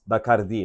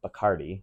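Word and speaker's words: Bacardi: It's Bardi, not Bikardi, in case you wanted to say it correctly.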